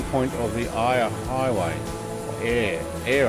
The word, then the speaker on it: Eyre: Air, I think is how it's pronounced.